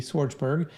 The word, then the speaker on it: Schwartzberg: And for my phonetically challenged people out there like myself, Schwartzberg, Schwartzberg.